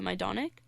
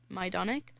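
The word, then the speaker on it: Majdanek: was I'm going to my donek which is another concentration camp it's spelled Maj da and ek so it's like magic but it's called my donek mm-hmm and what was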